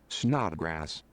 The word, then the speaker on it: Snodgrass: to hear it too here's how you pronounce it snot grass are you serious really